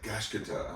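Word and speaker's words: Gachiakuta: to say this, because I keep saying Gachikuta and Gachikuta, whatever, you know, and like, this can't be how to pronounce. They were like, Gachikuta. I'm like, oh man, yeah, that's difficult for Americans, but yeah.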